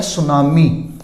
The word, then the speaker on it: tsunami: इसी तरह ये शब्द है TSUNAMI, इसमें T साइलेंट होता है, तो इसका प्रोनाउंसिएशन है सुनामी।